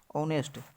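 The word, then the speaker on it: honest: लिखिएगा इसका उच्चारण जो दोस्तों आज से होगा ऑनेस्ट और इसका उच्चारण और से होगा इसका मतलब है इसके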